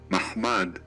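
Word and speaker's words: מחמד: Para esto, lo que hemos hecho es ir a la pronunciación de la palabra codiciable en hebreo, que se pronuncia de la siguiente manera, Mahmad, y cómo se pronuncia la palabra Mahoma en árabe.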